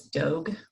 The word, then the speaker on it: Dogue: The one name that was suggested, but again, there was caveats, was Dogue, which rhymes with rogue.